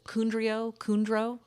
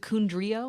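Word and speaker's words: Condrieu: But we make it in a I feel like I always butcher the Kundro. Is it Kundrio? Kondru? So, Right? Kondru.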